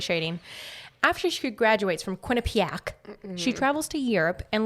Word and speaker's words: Quinnipiac: coin a pack university corner pack it's quinnipiac is it really quintopia you should you should pronounce it i'm a thousand percent sure it's quinnipiac really yes wow i feel like juliana ho um okay so quinnipiac they prefer that enunciation that is literally it's quinnipiac university just move on